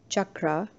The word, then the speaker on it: chakra: chakra not chakra or chakra or chakra which is usually the more commonly mispronounced variations of the word chakra like Chuck Chuck Norris very similar pronunciation